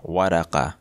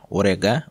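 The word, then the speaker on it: ورقة: ওরেগা এর অর্থ হচ্ছে পেপার বা কাগজ, যেটাকে শুদ্ধ আরবিতে বলা হয়ে থাকে ওয়ারাকা, ওয়ারাকা, কিন্তু কুয়েতিরা সাধারণত কাফ যে আছে কাফকে উচ্চারণ করে গ দিয়ে, যার কারণে এখানে হয়েছে ওরেগা অর্থাৎ পেপার বা কাগজ।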